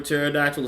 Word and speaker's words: pterodactyl: I always say remember pterodactyl is spelled with the P that's why you can't hear in the bathroom cuz the P is silent we